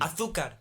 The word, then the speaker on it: azúcar: And then they like pronounce their Z's with like TH. and then Azúcar.